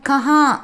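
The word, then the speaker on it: कहाँ: ஹிந்தியில் வஹா அப்படின்னு ப்ரொனவுன்ஸ் பண்ணணும். எங்கே அப்படின்னா கஹா அப்படின்னு சொல்லணும்.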